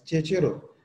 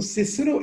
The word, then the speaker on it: Cicero: किया है वो है सिसरो, CICERO, सिसरो, और sometime it is pronounce as चेचेरो। चेचेरो भी कुछ लोग कहते हैं, वो कहते हैं सी की आवाज, चे की आवाज, जो लैटिन है वो इस तरह से प्रोनाउंस करेगा। हाउएवर प्रोनाउंसिएशन के हवाले से जो डोमिनेंट मुझे नजरिया मिला है वो ये है कि ये सिसरो है, ज्यादा स्कॉलर को मैंने सिसरो कहते सुना है। सो सिसरो इज the best known for his compelling